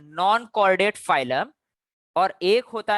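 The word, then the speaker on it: Chordata: फिर से बच्चों सी एच आ रहा है, तो चोरडेटा नहीं बुलाएंगे अपन लोग, इसको के समान प्रोनाउंस करेंगे, कॉर्डेटा बुलाएंगे, ठीक है। सो नो चोर चोरडेटा, कॉर्डेटा, ठीक है।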